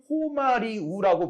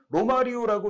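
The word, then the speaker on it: Romário: 됐던 기억이 나거든요 그러니까 우리는 지금 그 선수를 호말이 우라고 부르잖아요 그런데 지금 말씀하신 것처럼 94 월드컵 때는 로마리오라고 이제 했었죠 제 기억에도 그리고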